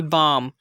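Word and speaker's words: balm: तो यहाँ पर देखें आप, पहली एग्जाम्पल है बाम। यहाँ पर इसकी करेक्ट प्रोनाउंसिएशन होगी बाम। देख सकते हैं हम कि ए और एम के दरमियान एल आ रहा है, तो एल को हमने साइलेंट किया।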